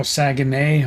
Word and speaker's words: Saguenay: I don't know how to pronounce that. Looks like Saginaw, but I may not be. All right. Oh, Saguenay.